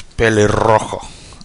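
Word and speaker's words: pelirrojo: just do this okay so the word is Billy wrong I don't think you need to roll your R's that much but I do that's how I do it believe oh okay it's got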